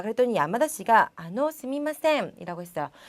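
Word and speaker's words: すみません: 거기다가 발음하실 때는 스미마셈 이렇게 하셔도 되지만 조금 나는 빨리 얘기하고 싶고 마 이런 발음이 잘 안 돼요 라는 분은 스이마셈이라고도 발음하셔도 괜찮습니다.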